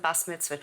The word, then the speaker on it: bas mitzvah: So no, I wasn't bas mitzvah. We called it bas mitzvah. Everybody today calls it bat mitzvah, right? Yeah. We called it bas mitzvah. Well, yeah, that's interesting because so that's the Ashkenazic pronunciation.